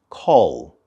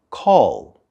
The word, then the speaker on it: call: verb and the object listen carefully for the l sound at the end of the word call call call all right call me